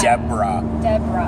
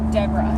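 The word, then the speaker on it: Desbarats: Some people would call it Desbrats. Yeah, that's what us locals like to call it because it's just a weird kind of name. Yeah. Deborah. And it's spelt Desbrats. Yeah. So a little bit weird kind of spelling for that. Absolutely. But I mean, pronunciation of it, Sure. Deborah is the correct name.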